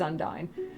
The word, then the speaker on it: Undyne: So I've seen people say Undine and Undyne, and I used to say Undine, and then I changed my mind and said it's Undyne.